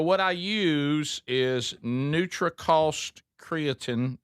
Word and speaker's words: creatine: Uh, so what I use is Neutriost creatin or creatine, how you say it?